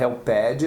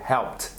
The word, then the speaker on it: helped: Brasileiro raiz gosta de falar helped, não é nada de helped, é helped. Helped.